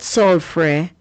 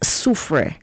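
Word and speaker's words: Soufrière: It's not sulfrey or sanre, it's su.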